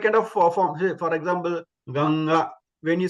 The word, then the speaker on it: Ganga: ganga simple Ganga but it's not Ganga it's Ganga then you have to pronounce from your know the the the base that and then the sound will come from the nose also ga ganga you